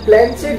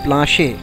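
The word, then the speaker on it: planchette: মানে প্ল্যান চেট জিনিসটা কি? প্রথমত কথাটা প্ল্যানচেট নয়, এটা একটা ফ্রেঞ্চ শব্দ, উচ্চারণ হচ্ছে প্লাঁশে।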